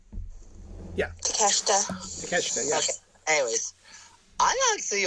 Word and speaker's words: Takeshita: Yeah, Takeshita.